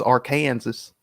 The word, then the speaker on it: Arkansas: say then what arkansas it's arkansas that's how you say it no i'll say it